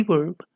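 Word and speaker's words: वे: The V is pronounced only half and the E is stressed to sound like way.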